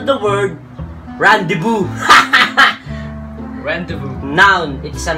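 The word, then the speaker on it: rendezvous: b o u s randevu randevu pronunciation niya randevu to an aoun ganon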